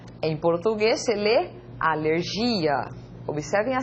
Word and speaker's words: alergia: En español se lee alergia, en portugués se lee alergia. Observem a sílaba tônica que está destacada aqui, não é?